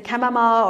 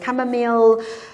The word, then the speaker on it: chamomile: ginger and a chamomile you can say camomile or chamomile um yeah both pronunciations are accepted lemon ginger that's obviously